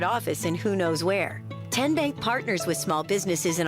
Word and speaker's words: TN Bank: How do you say the name? TN Bank? Nope. Tin Bank? Uh-uh. So what is it? 10 Bank. 10, as in Tennessee, right here where all